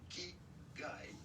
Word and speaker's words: Ikigai: How do you go about pronouncing it? Ikigai. That's what I said. Ikigai. Ikigai.